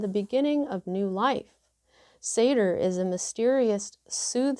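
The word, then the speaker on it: seiðr: comes the sorcery of oh you pronounce it seder let me just show you s-e-i-d-r is pronounced say der i kind of wish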